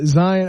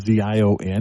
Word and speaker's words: Zion: made it big and his name is z IO n and he pronounces it Zion and so I think